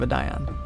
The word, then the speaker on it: Adion: That's how I'm gonna remember the pronunciation of Adion. It's like ion cannon, a dion cannon.